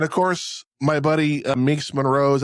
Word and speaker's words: Monroe: And of course, my buddy Minx Monroe's, I've been saying her name wrong for the past couple of weeks, and I called myself on it, and she just kind of chuckled and was like, no, it's Monroe.